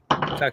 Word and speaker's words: tak: very much say again saying it right taik taik yeah sounds Japanese I don't